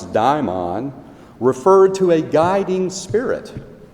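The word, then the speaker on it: δαίμων: In the ancient Greek world, however, the word demon, which they pronounce daimon, referred to a guiding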